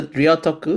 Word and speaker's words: Ryōtoku: I just I should have actually checked with you first but I thought like so Rioku is that correct?